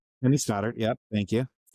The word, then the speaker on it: Kenny Stoddart: Is that how I pronounce? Okay. Kenny Stoddard.